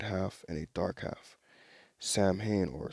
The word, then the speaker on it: Samhain: between a light half and a dark half samhain or samhain as i was properly uh pronounced is the celtics holiday in the beginning